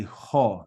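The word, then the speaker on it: ὁ: just look at some of the other kids um examples and you'll see what's different and then that fourth word should be ho not just o okay but like I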